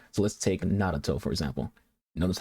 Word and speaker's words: Naruto: So let's take Naruto, for example. Notice how I just said his name. It's not Naruto or Naruto, it's Naruto. You pronounce that R kind of like a little D sound.